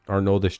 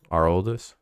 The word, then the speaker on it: Aroldis: Arnoldis Chapman. Wait, it's not Arnoldis. It's Aroldis. I don't know actually how to actually pronounce it in the first place. Aroldis.